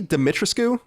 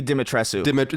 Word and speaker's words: Dimitrescu: That is it Lady Dimitrescu? Is that how you say it? I think it's Lady Dimitrescu.